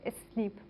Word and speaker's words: SNP: Se llama, las siglas en inglés son SNP, de Single Nucleotide Polymorphism, y se pronuncia en inglés SNP.